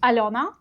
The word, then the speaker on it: Alona: I got used to the fact that foreigners have difficulty pronouncing my name. So I work with Americans a lot, and they would say Alona, which I'm Hmm. totally okay with. It is Alona. It's a little bit different pronunciation.